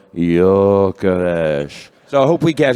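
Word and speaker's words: Gyökeres: Found his father saying how it's pronounced. Victor Yaresh. Victor. Victor Yaresh.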